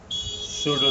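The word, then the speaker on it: should: यहाँ पे डिडंट है लिखा हुआ, तो इसको हम करेंगे डिड नॉट, शुड नॉट। इसमें एल साइलेंट है, मतलब एल की आवाज़ नहीं आएगी।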